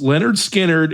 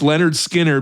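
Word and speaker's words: Lynyrd Skynyrd: First one is pronounced Leonard Skard. It's Leonard Skinnard, which I believe is in the 400s.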